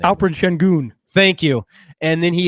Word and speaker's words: Şengün: He did so with Sinkin. I can never pronounce his name. Alperen Şengün.